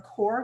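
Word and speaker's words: Qor: And Core is another. I think the magenta comes from Core, which is spelled Q-O-R.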